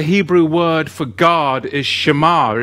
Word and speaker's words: שמר: God, the Hebrew word for God is Shamar. It's spelt with a Shin Mem Chresh.